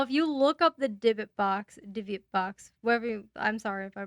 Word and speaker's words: Dybbuk: Divot box? Dybbuk. Dybbuk.